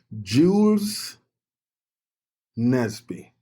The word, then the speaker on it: Jules Nesby: Jules Nesby.